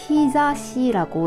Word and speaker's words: 日差し: 있는데 대표적으로 햇볕이 들어가다 해가 들다고 할 때 자시라고 읽 습니다 그래서 히자시가 강하다 약하다